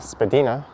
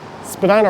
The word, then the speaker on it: Spadina: the spadina house museum it is pronounced spadina and if i'm not mistaken i think spadina road north of bloor is actually pronounced spadina as well i just took my